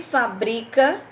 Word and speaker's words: fabrica: palavra tá bom então por exemplo ele trabalhava em uma fábrica de peças para carros ele trabalhava em uma fábrica qual é a sílaba forte pa depois eu tenho não se fabrica mais esse modelo de carro qual seria a sílaba forte aí fábrica tá na eu tenho